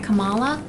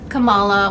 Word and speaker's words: Kamala: i mean i like am i pronouncing her first name right kamala kamala kamala like kama right that's she once explained how to pronounce her name when she was new on the scene like kama kamala you know i like